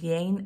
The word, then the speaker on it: Yein: To be exact, my name is Yein. Yein is spelled Y-E-I-N, but pronounced like Jane with a Y. Yein is actually a two-syllable name.